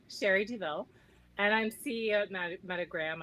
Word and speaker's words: Douville: words oh sure so my name is pronounced duville sherry deville and i'm ceo of